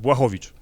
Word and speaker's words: Blachowicz: your interviews and your fights, I've seen it pronounced 100 different ways, but we got it right here today. Blachowicz. Yes, almost. Blachowicz.